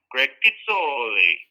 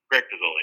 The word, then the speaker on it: Greg Pizzoli: People sometimes make my name harder to pronounce than it really is. They'll say, Greg Pizzoli. But I grew up in central Pennsylvania where we keep things pretty straightforward, so Greg Pizzoli is fine.